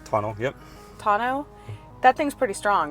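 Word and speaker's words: tonneau: it how do you say it is it tuno Tano yep Tano that thing's pretty strong right uh I've seen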